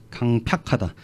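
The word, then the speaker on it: 강퍅하다: 마음이 이게 좀 발음이 강팍이야. 강팍하다.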